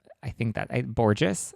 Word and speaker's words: Borges: Borges? I think that's how you pronounce it. I went to school with somebody who was a Borges, and that's how he pronounced it.